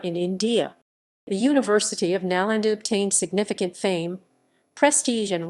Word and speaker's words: Nalanda: Nalanda. Nalanda Sanskrit, Nalan Inda ISO. Nalanda, pronounced Na, Lnda, was an ancient Mahavihara, a